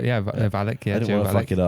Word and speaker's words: Valek: Is that how you pronounce the surname? Valek? That is right, yeah. Valek, yeah.